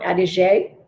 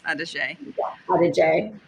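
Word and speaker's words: Adige: probably pronounced that wrong adijay yeah they pronounce all their vowels so i think it is adej all right so here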